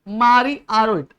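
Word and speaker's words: François-Marie Arouet: इज मारी आरो इट अब इसको प्रोनाउंस करनी है बहुत सारे लोग तो फ्रांस को फ्रांस को इज क्या फ्रांस को इज मारी बिस्किट मारी बिस्किट ना मारी आरो आरो माने आरो और एट समझा तो क्या हो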